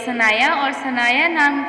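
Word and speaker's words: Sanaya: अगला नाम है हमारे पास सनाया सनाया की स्पेलिंग है एस ए एन ए वाई ए सनाया और सनाया नाम के माइने है पूरी चीज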